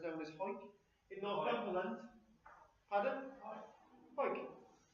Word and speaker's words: Hawick: Don't ask how they come up with that, but it's known as Hawick in Northumberland.